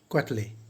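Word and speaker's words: Quetelet: अगर आप लास्ट में उनका नाम देखेंगे तो लगेगा कि क्वेटलेट है, लेकिन जिस तरह से हम लोग वेंसडे में डी का उच्चारण नहीं करते, बहुत लोग वेडनेसडे बोल देते हैं जो असल में गलत होता है, इट्स वेंसडे। उसी तरह से इनका नाम है लम्बार्ट अडोल्फ जैक्स क्वेटले।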